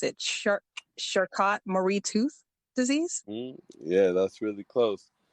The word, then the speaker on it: Charcot-Marie-Tooth: I don't want to mispronounce it. Charcot-Marie-Tooth disease? Yeah, that's really close. Charcot-Marie-Tooth.